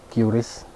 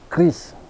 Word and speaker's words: QRIS: orang juga bikin video mengatakan yang benar itu Kris. Yang benar itu Kris. Rujukannya e pejabat dari BI. Ada videonya, video yang singkat bahwa yang benar itu katanya Kris. Dengan begitu mereka menyalahkan cara pengucapan curis atau kiris.